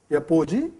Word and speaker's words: apogee: Next word we will take up starting with A is a word called apogee. Or some people pronounced as apogee.